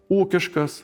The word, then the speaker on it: ū́kiškas: In the derivatives of the suffix -iškas the stress never falls on the suffix but on the root, for example, ū́kiškas “economical”, rãštiškas “written”, žmóniškas “human”, draũgiškas “friendly”. Another model is typical of